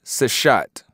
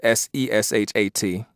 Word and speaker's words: Seshat: And it says that the goddess Sheshat, as it's called Sheshat, Seshat, but I'll go ahead and pronounce it Sheshat.